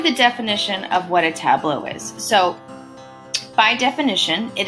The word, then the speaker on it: tableau: and today we're going to be talking about tableaus so yes this word looks a little crazy to pronounce but it's actually pronounced tableau hello and